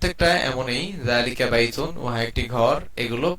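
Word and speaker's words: ذَٰلِكَ: জালিকা কুরসিউন। জালিকা, জালিকা না, আরবি যেহেতু জাল নরম হবে, যালিকা কুরসিয়ুন, যালিকা কুরসিয়ুন।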